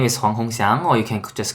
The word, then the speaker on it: Huang Hongxiang: Huang Hongxiang. How badly did I mangle your name? No, your pronunciation is quite good.